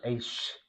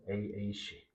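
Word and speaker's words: אֵשׁ: 그리고 두 번째 단어는 아까 에이쉬. 이 발음 조심하셔야 돼요. 에이쉬.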